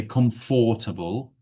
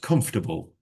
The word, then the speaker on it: comfortable: They overpronounce the or. Comfortable is fine. You don't need to say comfortable, just comfortable or comfortable. That's absolutely fine.